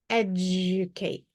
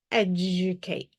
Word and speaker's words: educate: D is going to make a J sound when it is followed by a long U, when it's unstressed. All right, so when it's in a more muffled syllable, educate, educate. Let's break this word up